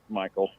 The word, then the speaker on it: Michael: you say your name is it Mikel or Michael Michael okay Michael look let let